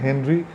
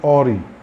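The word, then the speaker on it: Henri: তার নাম ছিল, এই যে হেনরি লেখা আছে না, হেনরি ফিলিবার্ট গ্যাসপার্ড ডার্সি, কিন্তু ফরাসি উচ্চারণ এরকম হয় না। ফরাসি উচ্চারণে হেনরিটা হয়ে যাবে অরি, অরি ফিলিবার্ট গ্যাসপার্ড ডার্সি, এটা হচ্ছে ফরাসি উচ্চারণ।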